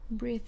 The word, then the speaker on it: breathe: are different in pronunciation so we have breathe in or breathe out which sounds like an e sound breathe and we have breath which is the noun and it sounds like an a sound breath next we have